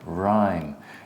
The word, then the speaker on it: rhyme: Why is it rhyme and not rim? Okay, look, you have the... This is like a vowel, no? You have this, and here you have a consonant, then you have E. So it's going to be long, rhyme.